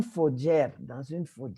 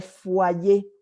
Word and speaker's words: foyer: yo vivo, dans une faudrière, qu'est-ce que ça peut bien être faudrière? Finalement, j'ai fait la déduction que c'était foyer, mais comme ça s'écrit F-O-Y-E-R, elle a prononcé à l'espagnol faudrière, et alors là, vraiment, j'aurais jamais compris.